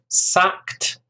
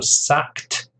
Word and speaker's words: sacked: stress on the second, sacked. Notice the ED ending here is pronounced like a T sound.